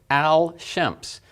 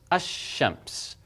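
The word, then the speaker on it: الشمس: to say the son it looks like al shemp's but you notice how awkward that is to say el champs al champs so what happens again is this lamb this lamb is not pronounced the short vowel here is and this is essentially doubled so this becomes a shemp's a shemp's Anor okay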